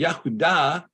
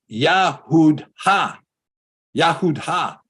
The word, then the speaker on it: Yahudah: hey Bob dalit hey so why isn't this yahud ha if that's a hey well because it's not because this is pronounced ah just as it is in the word Torah as it is in